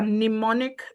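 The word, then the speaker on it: mnemonic: There are pneummonic devices that you can look up m n e m o n i. The first m is silent.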